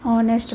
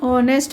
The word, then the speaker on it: honest: An honest man, same with honest also. H is silent over here, O pronunciation is heard more.